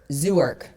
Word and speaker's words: Zwerk: Everything from first generation How do you pronounce it? Zerk? Zwerk? Zwerk.